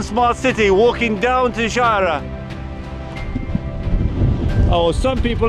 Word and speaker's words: Xgħajra: Xghajra, look at the place here. Totally windy. I'm sure you can hear me. I just came down from Smart City, walking down to Xghajra.